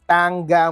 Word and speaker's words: Tanga: Yes, you read it right pero you're probably pronouncing it wrong. It's called Tangga Market. Hindi yung isang pagbasa.